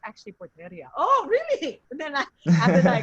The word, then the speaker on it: Porteria: you know the pfl uh pt it's actually porteria oh really and then i got it all